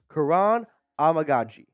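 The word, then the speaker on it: Kiran Amegadjie: say his name correctly once and for all Kuran amagi okay I think I got it down now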